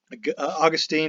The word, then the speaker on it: Augustine: passed on his gospel Augustine or gustan how are you gonna pronounce that even where you're depending whether you're Protestant Catholic said that mark was